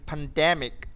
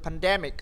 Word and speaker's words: pandemic: Ờ, the pandemic thì trọng âm nó rơi vào de nhá, em đọc linh tinh là người ta không nghe gì đâu. Sai đấy, trọng âm sẽ rơi trước mic.